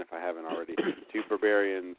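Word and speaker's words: Berberian: It's not Bavarian. It's Barbarian. Yeah. This word that nobody knows, but it's Barbarian, like Berber. Right.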